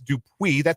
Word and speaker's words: Dupuis: So how I do it, it's, if I was spelling it out phonetically, I do like something is due. Yeah, that's how I would have done it phonetically too.